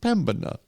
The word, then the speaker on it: Pembina: know how it's pronounced how dare that man mispronounce a thing he's never heard say it said out loud it's pembana the it's the oldest town of north dakota